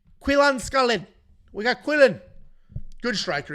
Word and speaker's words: Salkilld: I think the D is silent. And I watched the tape, obviously. He's never been in the UFC, so I can't run off memory. And I don't remember anybody pronouncing the D.